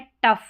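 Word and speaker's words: tough: यहां पर भी फ है टफ। क्या है? जी एच फ। जी एच को फ और ओ यू को अ।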